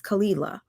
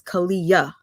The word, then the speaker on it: Kalila: But now my question is, since Kalila, and we must say her name is Kalila. If you watch the Tasha K interview, she's referred to as Kalia.